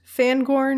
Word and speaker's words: Fangorn: And we know that the Fangorn Forest, Fangorn, is that how you say it?